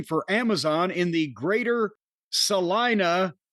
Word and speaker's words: Salina: I listen to you guys regularly while I'm at work delivering for Amazon in the greater Salina, rhymes with vagina, Kansas area.